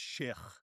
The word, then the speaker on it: Sheikh: of the world, but it's actually pronounced Sheikh. So the ghas and the khas, you don't hear that in the English language.